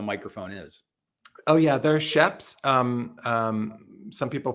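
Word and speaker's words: Schoeps: Oh yeah, they're sheps. Some people pronounce them shopes.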